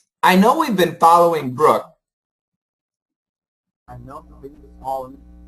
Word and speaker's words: Brooke: And your pronunciation of Brooke was really good too. Brooke, Brooke, like neighborhood. It's that sound. Brooke.